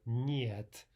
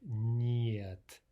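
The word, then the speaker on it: нет: But again, one way to practice this is take an English word like canyon or onion. Let's take canyon, for example, and let's just pretend that the un part at the end is not there at all. Can. And so instead of saying can, yun, thinking of it that way, let's kind of attach the Y to the N itself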